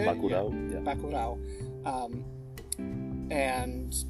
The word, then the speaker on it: Bacurau: Bacurau.